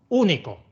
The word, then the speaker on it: único: Único tiene 3 sílabas. 1, 2 y 3. Y el golpe de voz va en la tercera contando desde el final.